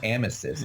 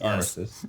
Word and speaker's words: Armistice: You didn't say Armistice. It's Armistice.